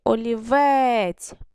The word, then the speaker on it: олівець: Який наголос в нас тут буде? Який наголошений склад? Останній. Олівець.